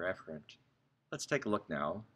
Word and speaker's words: efferent: or effort travel down the correct way pronounce it is afferent or efferent let's take a look